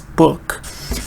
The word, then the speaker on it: book: Everybody pronounces it right, almost, because some people say book. It's not book, it's book. But anyway, stress-wise, everybody pronounces this right, book.